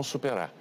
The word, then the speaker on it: superar: Mas no fim, o Brasil e o mundo vão superar. Superar. Então, percebam, né? Então, R final, bem suave.